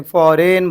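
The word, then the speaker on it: foreign: आ रही है अपने, फॉरेन बोल रहे अपन, जी की आवाज़ नहीं आ रही बोल के जी क्या हो गया अपना, साइलेंट हो गया.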